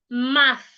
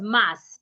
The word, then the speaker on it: math: Unlike if I'm pronouncing the word m a t h as mass. No. Anytime we have T and H in a word, our tongue is expected to be in between our teeth.